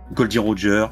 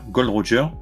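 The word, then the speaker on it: Gol D. Roger: directement par la scène Goldy Roger Gold Roger prononce comme tu veux qu'est-ce que tu en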